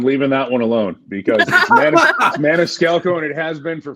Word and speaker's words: Maniscalco: in in Switzerland um the real way to say my name is not how I say it I've anglicized it that's what my family